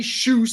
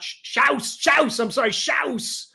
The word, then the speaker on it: Shouse: You got Bobby Shouse. I just learned how to say his name. He's German, so I like him a lot. Shouse.